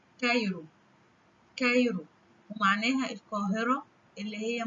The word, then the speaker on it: Cairo: هنتعرف في الفيديو ده على أربع كلمات بيشتركوا مع بعض إن هما بيبدأوا بحرف السي A وبيتنطقوا في أول الكلمة K، زي كلمة كايرو.